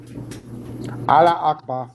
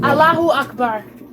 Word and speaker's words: Allahu Akbar: Allah Akbar. Yeah. It's Allahu Akbar.